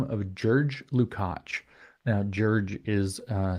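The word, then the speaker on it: György Lukács: up my teach are G is pronounced a bit like a J in Hungarian apparently and if I'm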